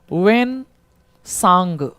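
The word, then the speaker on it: Hiuen Tsang: change होते हुए मिलेंगे एक्चुअली इसका सही प्रोनंसिएशन है वेन सांग in English वेन सांग T silent है इसमें टी केवल साइलेंट है वेन सांग सो सी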